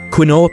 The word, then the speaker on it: quinoa: Quinoa, pronounced quinoa, is a unique pseudo-cereal.